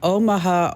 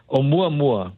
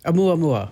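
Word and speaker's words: ʻOumuamua: Hey, let's go back to 2017 when we had the the Omaha Omaha. Is that how you pronounce it? No, actually it's in Hawaiian.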